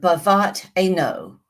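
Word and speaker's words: בבת עין: In Hebrew, the expression the pupil of um the eye is bavat I know or beat ano is a little more accurate pronunciation. We find in Deuteronomy 32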